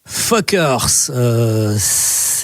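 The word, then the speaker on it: Fcukers: Fuckers, ça s'écrit comme vous l'avez entendu, sauf qu'il faut inverser la lettre U et la lettre C. Voilà, vous les inversez, ça donne Fuckers.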